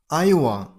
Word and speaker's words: Iowa: Iowa. Iowa. Stress on the first syllable. I. Iowa.